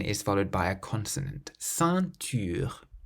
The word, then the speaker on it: ceinture: Ceinture, ceinture, So the nasal sound in this word is in the middle because the N is followed by a consonant. Ceinture.